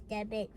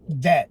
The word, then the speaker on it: debt: in payment of his debit. Or Debt, not debit. debt. Debit is D-E-B-I-T. Debt is D-E-B-T, okay? Debt.